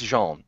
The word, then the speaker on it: Jean: In my head, it's Jean, and in anybody else's head, it can be whatever you want, because my mom and my grandmother always say Jean.